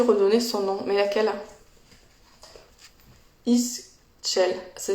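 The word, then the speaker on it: Ixchel: Istchel. Ça s'écrit I-X-C-H-E-L.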